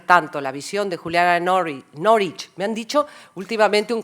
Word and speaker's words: Norwich: la visión de Juliana Norwich. Me han dicho últimamente un colega mío de inglés de aquí, de esta facultad, me dijo, ay, por Dios, Victoria, no digas Norwich, se llama Norwich.